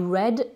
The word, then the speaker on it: read: Mais attention, au prétérit, ça s'écrit toujours avec EA, mais ce EA là, il se prononce E. I read, j'ai lu.